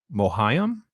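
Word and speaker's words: Mohiam: in the new Dune movie 's Reverend mother mohayam is how you say her name Ohio she's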